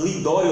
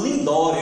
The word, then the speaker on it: Lidório: Quando eu vou pronunciar o nome dele, Ronaldo Lidório, eu lembro do professor e diretor do IALV, Arthur Eduardo, né? Doutor Arthur Eduardo, porque eu falava Ronaldo Lindório, então ele me corrigia, não é Lindório, não é Lidório.